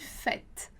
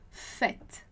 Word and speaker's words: fête: E aí, a particularidade da pronúncia para a vogal E vai ser justamente a pronúncia com som de E, é. Então, a gente vai dizer simplesmente fête, fête.